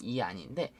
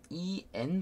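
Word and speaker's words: ian: 여기서 보면 이거를 이 안으로 보통 보실 거예요. 한글로 치면 이 안인데, 여기서는 이 안이 아니라 이엔 발음으로 보셔야 돼요. 이이 안이 아니라 이엔입니다. 이엔.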